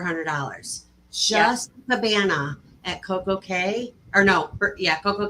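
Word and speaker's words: CocoCay: to um Copo K I call it K because it rhymes with perfect day all right thank you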